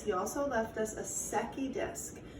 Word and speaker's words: Secchi: He also left us a Secchi disc. Now I did not say a sucky disc. You spell it S-E-C-C-H-I.